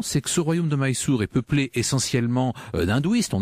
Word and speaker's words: Mysore: Alors Mysore, c'est en fait la prononciation française d'une graphie anglaise, il faudrait dire Mysore.